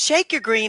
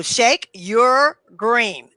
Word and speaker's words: ShakeURGreen: It's Shake, S-H-A-K-E, and then U-R. Okay? Then the color green. So Shake Your Green.